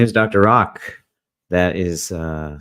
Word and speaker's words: Rak: hi there my name is Dr rock that is uh spelled r and pronounced ROK and I am the lead physician